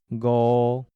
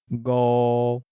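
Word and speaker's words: 五: In Tai-gi, 5 is pronounced go, go.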